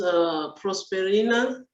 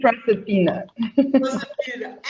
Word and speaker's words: Proserpina: The first one has been answered already by Miss Prosperina. Yeah, I think I am pronouncing the name well. No, sorry. Sorry. No, it's Mrs. Proserpina. Okay, I pronounced the R since it's Portuguese.